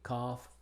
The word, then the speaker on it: cough: Pero en otras palabras la GH se pronuncia como F en las palabras que vemos acá. Aquí, cough, draft, enough, laugh, rough, and tough.